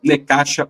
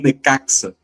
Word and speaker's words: Necaxa: Então é isso, fluid sendo emprestado para o New York City com Naves pro Necach ou Necaxa do México, como queiram, né, porque existem essas duas pronúncias.